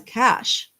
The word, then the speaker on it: cache: If she took it in Snapchat, because the Snapchat has a cache in the phone, and it caches in CACHE, most sometimes pronounced cache, right?